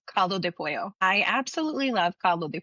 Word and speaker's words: pollo: I would pronounce it like caldo de pollo, and I'll say pollo because I'm really Argentinian. I cannot hide that part. It's not pollo for me.